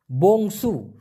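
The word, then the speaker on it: bongsu: হবে বংসু বি ও এন জি এস ইউ উচ্চারণটা হবে বংসু আনা বংসু আনা বংসু মানে হচ্ছে কনিষ্ঠ সন্তান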